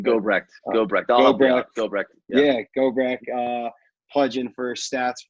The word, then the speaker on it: Gobrecht: And then seeing guys like Eli Gobert, or I think I'm mispronouncing his name. Gobrecht.